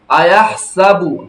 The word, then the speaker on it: أيحسب: আয়াহসাবু আন্না মালাহু আখলাদা, أيحسب أن ماله আখলাদা, আয়াহসাবু টান নাই, আয়াহসাবু আন্না মালাহু আখলাদা, বলেন